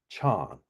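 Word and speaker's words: 禪: In China the word Zen is pronounced Chan.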